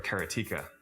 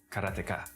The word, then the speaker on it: karateka: A lot of people say karateka or karateka. In Japanese, there's no stress on any syllable, so it would be karateka, something like that. I called it karateka, but I've since found out that pretty much everybody pronounced it differently.